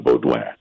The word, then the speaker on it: Beaudoin: And by the way, it's funny because I've stuck to the French pronunciation of John's last name as instructed by our mutual friend, the vaccine-injured nurse from Ontario, T-Bird, Tanya Coulaine.